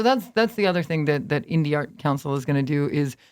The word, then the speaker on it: Indie Art Council: So he kept saying Indie Arts Council. Yeah, I mispronounced it.